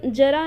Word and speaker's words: ज़रा: तो ये जरा इसका प्रोनाउंस होता है और इसका प्रोनाउंस होता है ज़रा, ठीक। तो ये जरा मतलब होता है बुढ़ापा और ये ज़रा मतलब होता है थोड़ा, ठीक है।